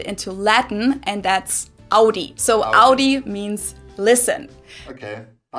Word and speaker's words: Audi: first one is Audi most Americans that Audi seriously I call this Audi I know pronounce it like I just said it AI in German we say Audi okay Audi and there's